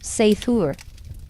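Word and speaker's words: seiðr: Sometimes it relied on magic, specifically a mysterious practice called cider, pronounced seithur, which was part sorcery, part spiritual therapy, and part my ex won't return my runes.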